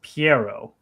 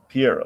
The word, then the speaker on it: Pierrot: I think it's Studio Pierrot. Maybe Studio Pierrot. Not sure. Anyway, okay, so well, apparently, according to their romanization, it is pronounced Piero. Piero.